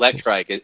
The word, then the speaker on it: Electrike: Electrike is how I pronounce it Electrike, yeah.